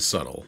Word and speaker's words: subtle: sorry i meant to grab this one mr tickle trunk says andre the bee is silent and subtle like so i tell